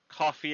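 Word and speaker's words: Ko-fi: And if you want to throw us a bone or two, we've got a coffee account. I think I say it right. Coffee with a K. Yeah, coffee.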